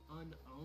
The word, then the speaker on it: Unown: Pokédex 3D Pro app, and did you know that the correct pronunciation is actually unowned?